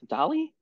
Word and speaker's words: DALL-E: That's how it's pronounced? DALL-E? DALL-E. DALL-E. Yeah. Yeah. Okay. What would you have said? Dale. Dale. Oh. Okay. Yeah, no. I always thought of it like Dolly Parton or like Salvador Dali.